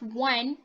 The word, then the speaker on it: one: one one is it when we pronounce one it's like w right one satu can one